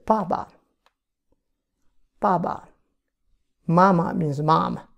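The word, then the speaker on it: 爸爸: Pronounced as ba. But usually we double it. We say baba.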